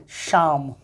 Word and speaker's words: psalm: देखो एक में पी और एल दोनों साइलेंट होता है। PSALM क्या पढ़ेंगे? शाम। PSALM पढ़ेंगे शाम।